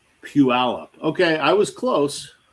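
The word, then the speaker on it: Puyallup: So it's pronounced puallup.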